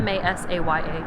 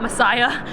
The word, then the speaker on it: Masaya: M-A-S-A-Y-A. Masaya? Masaya? Not Messiah.